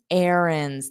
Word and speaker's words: errands: Now, running errands. There's no connection between running and errands because they are very different mouth positions. Running errands. But notice I don't pronounce that D.